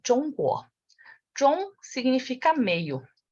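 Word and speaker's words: 中国: China em chinês é Zhongguo. Zhongguo não tem nada a ver com China.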